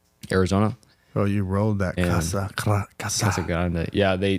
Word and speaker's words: Casa Grande: oh you rolled that Kasa Grande yeah they they teach they teach you how to say it when you're you R the r not grande no it's not Grandy either they get mad at that but yeah and